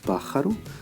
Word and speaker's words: pájaro: Ce mot terminé par une voyelle, qui est le O. Normalement, la syllabe tonique devrait être l'avant-dernière. Or, il se trouve qu'on dit pájaro. Donc, finalement, j'accentue, je mets un petit accent ici, sur le A pour signaler la place de la syllabe tonique. Et je dis bien pájaro.